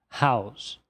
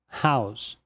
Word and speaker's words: house: Olha só, essa palavra termina com e, porém a representação fonêmica nos diz que o último fonema a ser pronunciado é o s. Então a pronúncia correta seria house. House. Porém, no inglês abrasileirado, isso acaba ficando house. House.